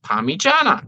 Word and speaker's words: Parmigiana: out, it's P-A-R-M-I, and it's pronounced Parmigiana.